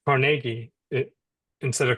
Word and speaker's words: Carnegie: It's it's CargI it instead of Carnegie because I guess that's like a local thing like Rodeo Drive versus Rodeo.